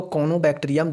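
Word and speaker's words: Corynebacterium: तो कोनोबैक्टीरियम डिप्थीरियाई क्या चीज़, CORYNE, RY जो यहाँ पे है साइलेंट है, यहाँ पे कोनोबैक्टीरियम डिप्थीरिया लिखता है।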